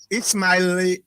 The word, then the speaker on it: Ismail: All right, let's go to Ismail. Oh man, how you spell your name? So Ismaile. Ismail? Pronounce about fine. No, pronounce. I know saying that Ishmael is supposed to be Ishmael.